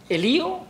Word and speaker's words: Elío: Elío con acento en la I.